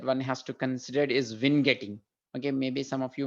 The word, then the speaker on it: vignetting: the pronunciation i think the uk and u.s pronunciation for this is vin getting maybe that comes from word i don't know where it comes from that that's how it is pronounced vin getting okay so the reason for that is you